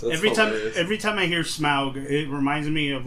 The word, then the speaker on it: Smaug: He assistant directed The Hobbit, the Battle of the Five Armies, and also The Desolation of Smaug, and Unexpected Journeys. Smaug.